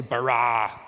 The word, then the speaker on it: bara: the word bara let me hear you say brah it's this forceful energetic word of making things